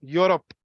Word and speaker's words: Europe: Pronounce karke dekho ek bar. You, Europe. What is the first sound?